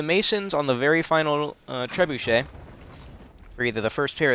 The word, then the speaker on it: trebuchet: and then to the trebuchets by the way that's not how the that's not how you pronounce it it's trebuchet but the game it's